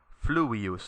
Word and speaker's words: fluvius: So nilus fluvius, notice that you put the accent on the u here, fluvius, because the I here is short.